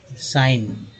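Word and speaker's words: sign: जैसे मैं यहाँ बता दूँ आपको कि अगर लिखते हैं एस आई जी एन साइन, है ना, या लिखते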